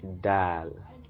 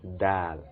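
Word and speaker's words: دال: is pronounced to be dal dal as in delicious delicious d so the d sound delicious by the ninth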